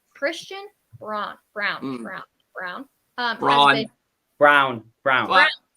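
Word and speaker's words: Braun: brown brown brown brown brown it's B it's spelled b-r-a-u-n but it's brown is it all right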